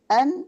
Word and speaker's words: een: Met en. Kalau di sini dibacanya karena dia partikel met en, bukan met een.